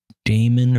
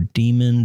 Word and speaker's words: daemon: Power D is the power daemon or demon, depending on how you want to pronounce it, that the macOS uses to handle power events.